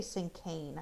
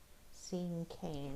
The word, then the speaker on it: cinquain: to read blank cinquain I think you say sink cane I think that's how you say it seeing cane let me google that